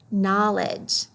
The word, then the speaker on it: knowledge: read this word no ledge ah chunky monkey knowledge knowledge what you know okay you're a turn